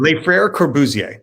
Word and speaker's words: Les Frères Corbusier: How do you pronounce the name of your theater company? What was it? Les Frères Corbusier.